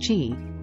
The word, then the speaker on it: Chi: of balancing the flow of energy or Chi pronounced Chi which is believed to flow through meridians in